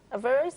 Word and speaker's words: Averroes: Averroes, that's how you pronounce it.